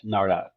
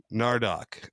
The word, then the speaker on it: Nardok: Nardock. Nardock.